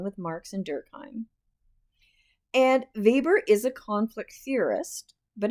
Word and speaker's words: Weber: So, for whatever reason, Weber is pronounced Vber, probably because he's German.